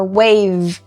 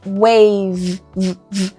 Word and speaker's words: wave: Release, release, or wave, wave. O último som é o V, não é o E.